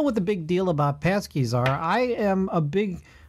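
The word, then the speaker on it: pączki: I don't know if anybody has celebrated Fat Tuesday, but, you know, I don't know what the big deal about Passkeys are.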